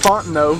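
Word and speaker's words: Fontenot: Fontno. Spelled funny, but it's font no.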